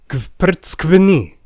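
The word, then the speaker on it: გვფრცქვნი: it with me now, Kvrtskvni. Yes, that is one single syllable. It means you peel us, and it starts with you pronouncing a bunch of consonants before you get any relief with that vowel.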